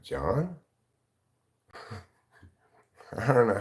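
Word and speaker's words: João: the YouTube it's like John J o a o is pronounced John I don't know how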